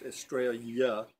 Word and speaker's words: Estrella: Estrella, it's Estrella, and it's pronounced Estrella. A double L in Spanish is a Y.